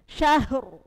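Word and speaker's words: شهر: contoh kalau tahfim syahr bersama syahr syahr heeh syahr ya Jadi bukan syahr syahr ditebalkan khusr khusr ahah ditebalkan khusr ahah gitu ya khusr khusr ya jadi tebal rnya tebal tebal itu artinya apa rongga mulutnya penuh tapi beda dengan tar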